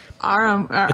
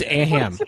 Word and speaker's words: Aham: Yeah, I was like, what's an Aram? It's Aham. Aham. You know what? A ham sandwich. You added an R that I don't think is there. Aham. Aham karada. Aham. Whatever I want. You put the emphasis on the wrong syllable.